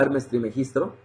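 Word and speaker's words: Hermes Trismegisto: estoy leyendo de lleno a Hermes trimegistro es la forma correcta de pronunciarlo tres veces grande pero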